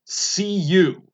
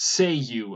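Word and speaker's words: Cei-U: with the magic word see you which is pronounced say you according to the interwebs and so after that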